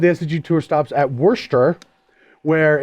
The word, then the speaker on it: Worcester: actually say it it's a Worcester Worster yeah Worster but everybody says Worster where did I don't